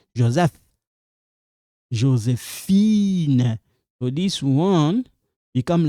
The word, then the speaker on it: Josephine: Josephine.